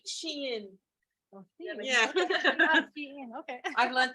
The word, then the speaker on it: Shein: I think it's Shine. I don't know how it is, but it is Shein.